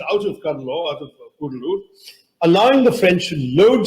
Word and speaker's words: Cuddalore: It's actually not pronounced Cuddalore anymore, thank God, Kudalur, but anyway, Cuddalore is